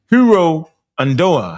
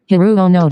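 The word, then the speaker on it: Hiroo Onoda: Hiro Andoa. How you say his name? Let me say it right. This is who y'all is. Y'all Hiro. Hold on. Hiru Onoda.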